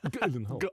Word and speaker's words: Gyllenhaal: And it's actually how you pronounce his surname. Gyllenhaal.